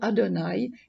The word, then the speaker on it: Adonaï: sont l'équivalent de yahvé on ne prononce pas le mot de yahvé on prononce le mot adonaï qui signifie seigneur pour